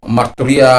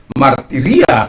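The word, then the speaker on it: μαρτυρία: sudah terbiasa dengan marturia, saya katakan untuk mengubah yang pronunciation yang benar, martiria itu, ya, berubah di alam bawah sadar-sadar ini untuk mengatakan marturia itu, koinonia itu udah terbiasa, ya, udah terbiasa karena ya sudah.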